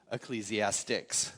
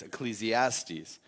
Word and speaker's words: Ecclesiastes: you who don't know it's not pronounced ecclesiastics like I said for years it's Ecclesiastes and uh many years